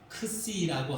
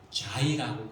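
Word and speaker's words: xi: 그 다음에는 뭐냐면은 크씨라고 하는 것인데 크씨 그러니까 크자는 거의 묵음이고 씨라고 그래요. 영어 발음으로는 자이라고 그럽니다.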